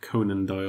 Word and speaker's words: Conan Doyle: conand Doyle does that how you say it Conan Doyle Conan Doyle do you know who he is